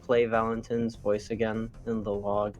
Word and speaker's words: Valentin: It's Valentin. And not Valentine. Valentine's spelled different. Valentine is a E.